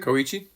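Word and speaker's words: Kōichi: film, our our protagonist, Kioi, how did you pronounce his name, Jeffrey? Kohichi.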